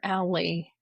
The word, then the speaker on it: ALLi: But what I love about is it ally or alley? How do you say it short? Ally is how I say it. Did I say my mind? I think I said Ally.